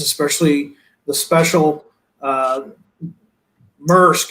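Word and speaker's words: Maersk: especially the special uh merck is how you say it if i'm is that correct yannick mersk yes first yeah i don't want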